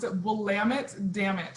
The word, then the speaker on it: Willamette: you can't go wrong we'll lamit damn it and then you'll get it you'll get it right the willamette valley is